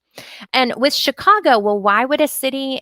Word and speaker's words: Chicago: chef shoot machine and chicago with these we have the ch that we spell with ch but it makes the sh sound sh these are all a french origination and with chicago well why would a